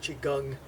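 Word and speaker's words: Qigong: now that's usually considered chiong which is breath work Chi is your energy but your breath controls your energy and gong it's actually pronounced gang so it's actually Chi gang if you hear other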